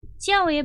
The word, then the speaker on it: 叫: 자, 여러분들 발음하실 때 J예요. 그죠? J로 시작됐어요. 그러면 발음이 굉장히 좀 세져요. 어떻게 세지냐면 우리나라식으로 그냥 한글로 써 본다면 치, 아, 오의 형태거든요. 이거를 굉장히 빠른 속도로 읽어주는 거예요. 찌아오, 찌아오 이렇게 돼요.